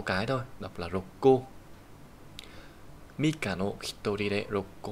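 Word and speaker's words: 六個: Đọc là rokko.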